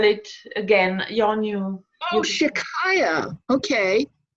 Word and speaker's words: Shechai Yah: Oh, Shikaya, okay. S-H-E, like she. Chai, C-H-A-I, which is Hebrew for light or life, okay, and then Y-A-H, Shikaya.